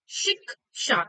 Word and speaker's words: शिक्षा: बट हम कैसे pronounce करते हैं शिक्षा को? शिक्षा। तो पहले क की ध्वनि हमें हमारे कानों तक पहुंच रही है शी के बाद।